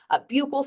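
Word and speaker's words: buccal: picture is the um I've heard it pronounced so many different ways buul swab Buckle swab I lean on the Buckle side you can fight on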